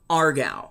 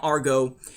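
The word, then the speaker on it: Aargau: the banking world of Argau, or Argo. I'm not sure how you're supposed to pronounce it. A-A-R-G-A-U. Okay, so Argo.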